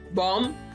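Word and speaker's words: bomb: बॉम, बॉम, बम जिसको कहते हैं उर्दू में, बी साइलेंट है यहाँ पे भी. बॉम.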